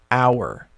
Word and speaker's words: hour: The only exception to the rule is if you have a silent H, like in the word hour. Now, hour actually starts with an H, but it's silent.